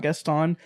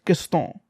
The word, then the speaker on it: Gaston: his name is not guest on that sounds like a white person trying to say his name he's French his name is Gaston anyway getting this legitimately